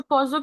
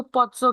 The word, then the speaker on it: Pozzo: अच्छा, पोजो की जो प्रोनाउंसिएशन है, जब आप इसको देखोगे तो उसको पोत्सो कह रहे हैं, तो पोजो एंड पोत्सो both are correct ji.